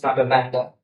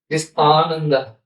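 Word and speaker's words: Ānanda: I said, no, it's not Ananda. It's Ananda. First I is long pronunciation, long sound.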